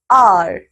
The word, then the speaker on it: hour: First, an hour. B, an honest person. C, an heir. बच्चों यहाँ पे हो क्या रहा है? We have used an before these words too because H is silent.